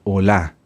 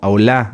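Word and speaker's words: עוֹלָה: hebreo holá holá holocausto holá sí no como de Hola No Hola acento en la a y va con h final las ofrendas de oblación de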